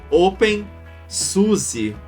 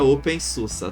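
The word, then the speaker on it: openSUSE: sistema uma distro Linux que o pessoal chama pelo nome errado que é o open Suzi que na verdade se pronuncia Open Susa Tá bom então quando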